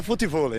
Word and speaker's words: futevôlei: se escreve assim, futevôlei, pode ser ouvido de forma bem diferente no Rio de Janeiro. Futevôlei. Mas é futevôlei. Ué, mas para escrever, a pronúncia é diferente. As pessoas percebem que existem duas maneiras de se falar as sílabas TI e DI.